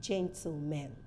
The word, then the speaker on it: gentleman: ladies and Gentlemen please the word g-e-n-t-l-e-m-e-n is pronounced as a gentleman ladies and gentlemen not ladies and gentlemen because if you go